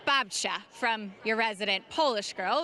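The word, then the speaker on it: babcia: And first of all, I just have to point out the two is pronounced babcha from your resident Polish girl, which means grandmothers in Polish out of my golden girl.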